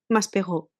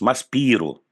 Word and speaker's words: Maspero: ¿cómo lo pronuncias? Maspero, Maspero. claro. Aquí lo pronunciamos Maspiro. Maspiro.